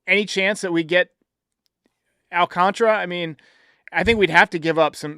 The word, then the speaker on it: Alcantara: I I I don't see Alcantra or honestly it's spelled Al Alcantara. I don't know why it's Alcantra. It's Yeah, but it's pronounced Alcantra.